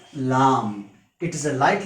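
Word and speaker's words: لام: this shape without any typical mark is called lam it's pronunciation in english is l a a m lam it is a light letter so it can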